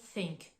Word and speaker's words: think: répéter plusieurs fois they think le TH de the il est plus prononcé on va mobiliser les cordes vocales tandis que le TH de Think il va être plus doux donc je me répète they